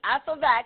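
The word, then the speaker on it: f(x): called function notation so anytime you see F ofx that's how you say it right f is a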